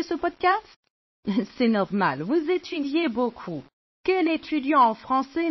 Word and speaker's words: étudie: Le E final est muet. On s'arrête au I de étudie, au OU de Jean.